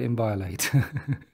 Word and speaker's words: inviolate: Val eight in beloit Ambala inviolate that's how you pronounce that word inviolate did a lot of